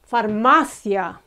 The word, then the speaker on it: farmacia: A pharmacy or a chemist is farmacia. Far, ma, and then these two are together. Thia, thia.